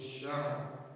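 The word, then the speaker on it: شهر: Tidak boleh kita barisi H-nya karena dia berbaris mati, dan karena kita berhenti di kalimat itu, maka huruf terakhir wajib kita matikan. Sehingga dua huruf itu berbunyi tetapi barisnya tetap selamat. Khairun min alfi syahr. Syahr hanya dapat syahr.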